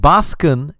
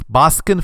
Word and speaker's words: Baskin: local horror film called Baskin it's spelled b-a-s-k-i-n-n-baskin like in Baskin Robbins and well long story